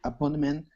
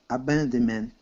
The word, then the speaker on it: abandonment: Abandonment. Yeah, much better. Abandonment. Four syllables. Which syllable has the most emphasis? First, second, third, or fourth? Abandonment.